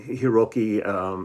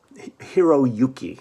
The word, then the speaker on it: Hiroyuki: by eui nishiwaki and hiroki matsuda hiroyuki i'm sorry i didn't pronounce that wrong matsuda and it's myself